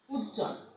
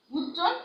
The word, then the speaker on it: উজ্জ্বল: যুক্ত ব্যঞ্জন, জয় জয়, জয় জয়ের সঙ্গে যে বটা আছে সেই বটা উচ্চারিত হচ্ছে না, হ্যাঁ, মানে অনুচ্চারিত থাকছে। যেমন দেখো উজ্জ্বল, উজ্জ্বল, উজ্জ্বল, আমরা কিন্তু এই বটা উচ্চারণ করছি না।